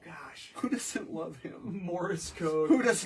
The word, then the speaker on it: Morse: It's not, I said Morse code. Morris. Morris. That's how you say it where I come from in New York.